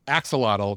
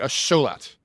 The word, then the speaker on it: axolotl: So the T L at the end of a word, um, but TL is one single consonant.